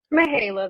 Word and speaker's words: Mahala: Mahala, this is she. Sorry, I mispronounced your name.